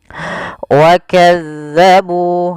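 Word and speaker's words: وَكَذَّبُوا: Wakazzabu, nah, ini tekan di zal bukan wakazzabu. Jangan kita baca dengan hati-hati, jangan sampai kita membacanya dengan wakazzabu dengan huruf zai.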